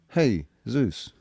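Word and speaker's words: Jesús: I mean just why would why would Jesus we pronounce it Jesus, right? But Spanish people pronounce it Jesus and then but but then it's Zeus. Hey Zeus.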